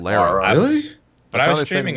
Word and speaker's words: Lara: game they say it's not Laura it's not Laura it's Lara really when I was streaming it I was